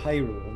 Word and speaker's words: Hyrule: Oh, Hyrule.